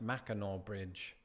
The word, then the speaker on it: Mackinac Bridge: which, for any Uncle Tobys out there, is pronounced Mackinac Bridge.